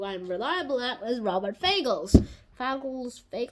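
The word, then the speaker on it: Fagles: reliable at is Robert fagel's fake I just call it figures like rhymes with Bagels because that's one of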